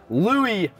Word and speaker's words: Louis: who cares yes I have none other than Louie in the building I say that right you